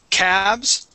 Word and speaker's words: calves: Okay, now, I do want to review the word calves and calf. Okay, that will have an F at the end. And the L is going to be silent. Okay, we say calves and calf.